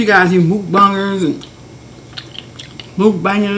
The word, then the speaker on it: mukbang: guys you move bummers move banging is how you pronounce it and people are doing